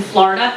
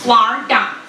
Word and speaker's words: Florida: My mom lives in Florida. Yes, 2 syllables, Florida, Florida.